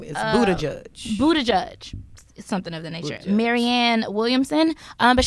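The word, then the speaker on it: Buttigieg: reparations and I just looked up how to pronounce his last name is Buddha judge Buddha judge marianne williamson but she really has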